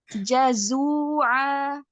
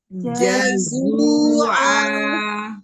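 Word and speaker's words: جَزُوعًا: Kemudian di sini ada huruf jim, hati-hati. Jim, kemudian zai. Hati-hati, kita harus bisa bedain antara Jim dan zai. Coba kita ulangi. Jazua. Jazua ya. Hati-hati tertukar ya, Um ya. He antara Jim dan Zaid. Nah, ini sering tertukar.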